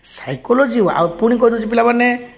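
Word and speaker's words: psychology: পানি silent silent letter সাইকোলজি সাইকোলজি word সাইকোলজি পয় সাইকোলজি শব্দরে সাইকোলজি বলে ওয়ার্ড লেখা সেই শব্দরে সাইকোলজি সাইকোলজি শব্দরে সাইকোলজি শব্দরে কন হচছে না পি ইজ not pronounced P রিমেনস silent silent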